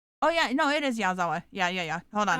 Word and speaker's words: Yazawa: that's not it that is definitely how you pronounce it oh yeah no it is yazawa yeah yeah yeah hold on I I was